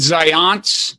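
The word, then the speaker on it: Zajonc: do you pronounce it science you're very close I've heard it all different ways but it's like science with the Z so it's science it's spelled Z AJ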